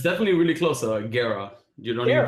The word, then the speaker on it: Guerra: It's definitely really close, Guerra. You don't even pronounce the...